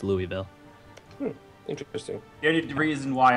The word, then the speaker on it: Louisville: that I live in, we have a city called that, you know, is spelled the same way. But in Nebraska, they call it Louisville. But if you're in Kentucky, it's Louisville.